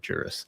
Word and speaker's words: Guris: Yeah, I I was going to go with the with the other G pronunciation, but I'm I'm glad I clarified that Juris.